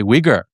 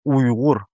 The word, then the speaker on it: Uyghur: But the G is like in the back here, maybe. Yeah, yeah. It it it's it's a unique sound. Uyghur.